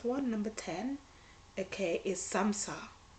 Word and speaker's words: samsa: number 10 okay is samsara it sounds like samosa but it's not and it looks like